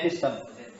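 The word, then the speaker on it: ἐπιστήμη: Itu ya bacanya epistem.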